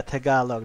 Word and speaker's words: Tagalog: Is it Tagalog? Tagalog, yeah, Tagalog. That's how you pronounce it.